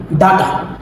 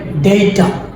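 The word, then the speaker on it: data: ডেই view দেন আমাদের পরের শব্দটা আমরা প্রায় বলি থাকি ডাটা কখনো এটা ডাটা হবে না শব্দটা হবে ডেইটা ডেইটা দেন আমরা ট্রাই করি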